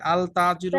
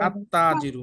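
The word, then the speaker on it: التاجر: তার শুরুতে যদি আলিফ লাম আসে তাইলে কি আল তাজিরু হবে নাকি আত্তাজিরু আত্তাজিরুজিরুন আত্তাজিরুজিরু আত্তাজিরু লামটা কি উচ্চারণ হয়েছে নাকি হয়নি হয় নাই হয় নাই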